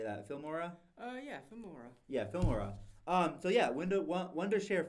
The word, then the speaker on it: Filmora: Filmora?